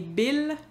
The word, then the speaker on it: bills: Par exemple, en anglais, j'aurais dit « my bills », on prononce le « s » du pluriel. En français, on ne prononce pas les « s » pluriels. Donc, « m'a payé mes bills », il fait rimer avec « tranquille ».